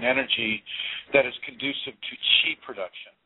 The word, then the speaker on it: chi: that is conducive to chi production, chi, C-H-I production. Some people pronounce it ki, or, I don't care. C-H-I, it looks like chi to me, so that's what it is to me.